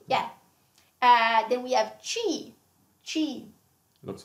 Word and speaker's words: ci: Yes, same pronunciation. B. Yes, yeah, B. Yeah. Then we have chi.